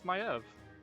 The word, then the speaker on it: Maev: It's Maev. Not Maeve. Maev. Listen. World of Warcraft taught me that her name is Maev.